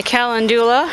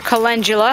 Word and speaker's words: calendula: My calendula, or calendula, however you prefer to pronounce it, it's got quite a few nice little heads of flowers on it, which is awesome.